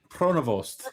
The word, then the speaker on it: Pronovost: It is Marcel Pronovost. Is that right? Did I say that? Oh, I shouldn't ask Dave. Neil, did I say that right? ask me. Pronovost, yes.